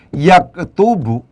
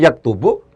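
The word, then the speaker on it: يَكْتُبُ: Ketika cara bacanya itu adalah dengan yaktubu, ya, itu beda dengan ketika cara bacanya dibaca yuktabu.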